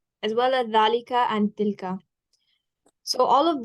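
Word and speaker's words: ذلك: Remember, there's no, even though we pronounce it as Zaalika and Haza, there's no alif after the ha or after the da when you write it.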